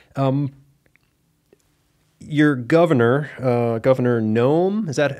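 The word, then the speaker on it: Noem: option okay yeah um your Governor uh Governor gnome is that how you say her name yes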